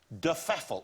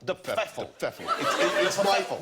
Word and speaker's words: de Pfeffel: Well, no, we don't know exactly how it's meant to be pronounced. That's how my grandmother wanted it pronounced.